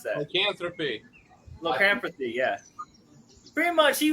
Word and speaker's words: lycanthropy: Lycropanthy. I can't freaking pronounce that. Lycanthropy.